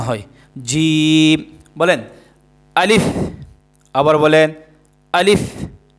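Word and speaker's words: ج: বলেন আলিফ বা তা সাের অক্ষরটা হচ্ছে জিম। সার পরের অক্ষরটা কি? জিম। আর সা অক্ষরটা কোথায় থেকে উচ্চারণ হয়?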